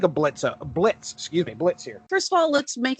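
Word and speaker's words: Blitzø: look at his name it's blitzo but the o is silent so he's the boss of the imps what do you what do you think of blitza blitz excuse me blitz here first of all let's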